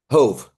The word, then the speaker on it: Hove: It just looks like love, but it doesn't rhyme with love because it's love and hove.